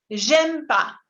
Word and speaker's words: j'aime pas: la parte escrita, pero al hablar tendemos a omitirlo y se dice j'aime pas, j'aime pas. En vez de decir je n'aime pas, es como si desaparece la E y desaparece la N. Y on dit todo junto, j'aime pas.